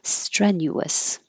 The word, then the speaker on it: strenuous: unstressed syllable that's it strenuous I'm watching my accent very carefully so I say stress strength the vowel is air like head strenuous maneuver maneuver hindrance it